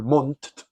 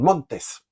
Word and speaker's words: Montt: Dios en cambio Montes ellos no sabían pronunciar Mont que es un apellido Catalán el de Manuel Mont entonces en vez de decir Mont decían Montes entonces decían los montes